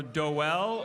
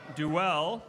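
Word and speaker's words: Dowell: I'm going to try to pronounce this right. It's D-O-W-E-L-L, so Doel or Duell from Seattle, Washington, right here in hometown.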